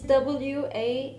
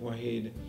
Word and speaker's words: Wahid: It's W-A-H-I-D. W-A-H-I-D, which in Arabic means, well, actually in Arabic it's pronounced Wahid, I think. Like an I without a dot in Turkish.